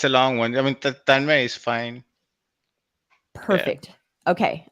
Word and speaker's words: Tanmay: How do you pronounce it? Oh, it's a long one. I mean, Tanmay is fine.